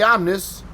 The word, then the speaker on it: Omnis: Offroad in the snow I know a lot of people pronounce this car Omni but I don't know Google says it's omnis so I'm going to go with Google because the Googles is